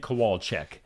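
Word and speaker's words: Kowalczyk: do know how to say Ed coal Ed kowalek 53 years old from the band Live so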